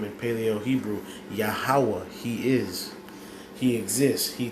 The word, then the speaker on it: Yahweh: Yahweh, He is.